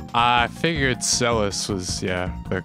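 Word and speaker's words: Celes: very important question uh in ff6 do you pronounce the names celis or seelys i figured cellus was yeah the correct way to say it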